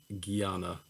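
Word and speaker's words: jnana: with a j y a n a but pronounced guyana it's bending your mental concepts into different positions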